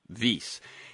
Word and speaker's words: Wyss: He's founding director of Harvard's V Institute for Biologically Inspired Engineering. And that is a a Swiss proper name. So it is spelled wys vase.